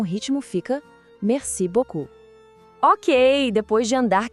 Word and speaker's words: merci: Primeiro, merci. Repare que o R é bem suave, vem lá da garganta.